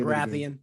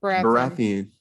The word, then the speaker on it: Baratheon: Is it A, Robb Stark, B, Peter Baelish, C, Joffrey Barrett, how do you say Baratheon. Baratheon, or D, Jaime Lannister?